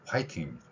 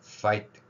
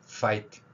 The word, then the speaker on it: 파이팅: 자 니로 아랫입술을 물고 파이팅 파이팅 자 니로 아랫입술을 물고 파이팅 파이팅이 발음입니다 소리에 대해서 우리말에 없기